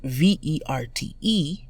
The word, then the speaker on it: verte: The feminine form is V-E-R-T-E, which is pronounced verte. Masculine vert, feminine verte.